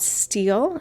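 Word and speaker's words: stele: time uh there are some things called steel it's spelled s t l e these are some of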